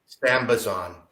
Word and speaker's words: Sambazon: Sambazon.